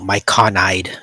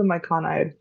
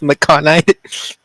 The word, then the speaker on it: myconid: What is a myconide? She's never heard of it. Yeah. I just gaslit Soul into thinking it's pronounced Maconite.